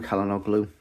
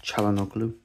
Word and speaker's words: Çalhanoğlu: Hakan Çalhanoğlu. Or Çalhanoğlu. Çalhanoğlu, I'm not 100% sure exactly how to say his name. I think it's Çalhanoğlu, actually.